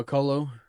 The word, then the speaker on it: McCullough: And then you got Liam McCullough.